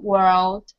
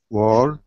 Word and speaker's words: world: Girl, world, curl. Perfect. And Yuki? Yes. Girl, world, curl. Well done. Just don't forget the D on... Sorry? Don't forget the D... The D at the end of world.